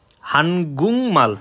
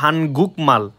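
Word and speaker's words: 한국말: যেমন আপনি এখানে যদি সার্চ দেন হানগুংমাল, ঠিক আছে, এটা কিন্তু লেখা হানগুকমাল, কিন্তু সঠিক উচ্চারণ হানগুংমাল।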